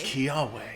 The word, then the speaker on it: Kiawe: There's no way he doesn't say it the correct way. My name's Kiawe.